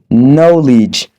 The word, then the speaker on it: knowledge: Nous avons dit que la lettre K est omise dans les mots tels que knowledge, la connaissance, to know, connaître, to frapper.